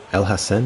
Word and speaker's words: El Hassan: to let that go Hassan El Hassan is how you say that how about the cross